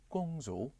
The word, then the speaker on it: Gwangju: Gwangju. Gwangju. Gwangju. Gwang. There is a Chinese city with the same Chinese characters. And Yeah? it's pronounced as Gwangju.